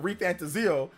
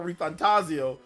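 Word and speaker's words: ReFantazio: metap for reantaso but metaphor reantaso I thought it was like that but no metap for ref fantasio so I went back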